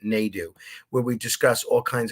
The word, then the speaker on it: Nadu: was Jeff Nadu NAU I keep calling him Nido but he pronounces it na do where we discuss all